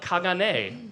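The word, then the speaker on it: caganer: In Catalonia nativity scenes traditionally includes elk kagane as it is pronounced in Catalan a figure doing what?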